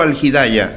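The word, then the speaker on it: Al-Hidaya: Ah, centro algidaya, así. ¿Y cómo se escribe?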